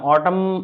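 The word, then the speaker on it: autumn: ओ एल ई एम एन तो यहां पर साइलेंट क्या होगा एन तो ऑटम ऑटम में क्या होगा पतझड़ इसका मतलब होता पतझड़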